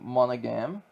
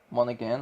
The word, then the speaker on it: Monaghan: And you play as a guy named Cal Kestis, who's voiced by Cameron Monaghan. Monaghan, I think that's how you pronounce it.